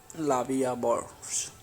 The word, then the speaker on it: La Vie en Rose: La Vie en Rose, literally life in prank, French pronunciation La Vie à Bourse, French L'amour, is a